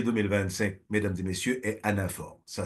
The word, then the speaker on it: anaphore: samedi 18 janvier 2025 mesdames et messieurs est Anah ça s'écrit à N a P h o r